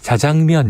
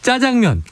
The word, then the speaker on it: 자장면: 명예 곧 출신이기 때문에 자장면 이렇게 발음을 하시는데요 그랬더니 국립국어원 교수님이 짜장면이라고 하셔도 됩니다 그래서 나중에 또 표준어를 채택이 됐죠 짜장면 제일 좋아하는 건데 11.4%